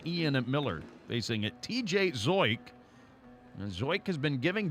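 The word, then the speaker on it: Zeuch: curveball that time from zoik his last name by the way is spelled z-e-u-c-h zoik one out to Maggie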